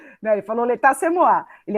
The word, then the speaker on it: L'état, c'est moi: Aí eu coloquei aqui em francês, l'état c'est moi. Ai, que chique. Bonita, né? Chique. Sou rica e poderosa. Como é que pronuncia?